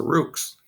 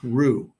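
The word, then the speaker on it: roux: that says what's a Rooks well it's a French word so the x is silent and it's pronounced Rue kind of like in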